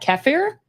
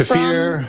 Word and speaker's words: kefir: If you've ever had kefir, maybe it's kefir, from Lifeway Foods. We're going to ask how to pronounce it. Kefir, apparently.